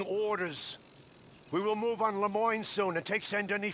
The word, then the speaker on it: Lemoyne: One is he said Lemoyne, so apparently I have been pronouncing that correctly because I was starting to think it might be Lemony, but he said Lemoyne.